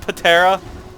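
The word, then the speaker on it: Ptera: Was it spelled P-T-E-R-A? I believe it was. And she pronounced it Patera?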